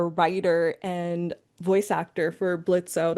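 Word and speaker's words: Blitzø: Um, so and I know you are a writer and voice actor for Blitzo the O is silent and yes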